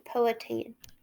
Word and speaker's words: Powhatan: We're going to learn more about Jamestown and the Powhatan. Let me make sure I say that right. The Powhatan. I looked it up so I could say it correctly today.